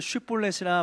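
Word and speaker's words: שִׁבֹּלֶת: 쉬라는 말, SH라는 발음이 안 됐던 것 같아요.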